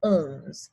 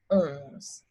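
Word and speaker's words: onze: so 11 is owns and if we remember back we know that one is uh and so it kind of carries over to 11 being ohms and then 12 is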